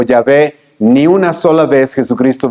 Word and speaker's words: Yahvé: Algunos lo pronuncian Yahvé, otros en una mala transliteración le dicen Jehová.